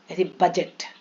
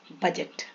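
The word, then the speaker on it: budget: हमेशा हेल्प करेगा एज इसको एडज नहीं पड़ेंगे बजट बजट ridge ridge ब्रिज क अय जी साइलेंट जी कहा साइलेंट होता है एन के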